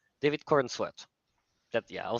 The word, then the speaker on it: Corenswet: Corenswet, David Corenswet.